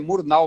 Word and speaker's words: Murnau: algumas brigado leonardo diz aquele que a pronúncia murnau mesmo maravilha curso de alemão geralmente